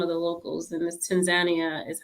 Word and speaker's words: Tanzania: common um you just came back from and pronounced the name for me correctly so we say Tanzania over here but I got corrected several times over there by some of the locals and this Tanzania is how they pronounce it over there so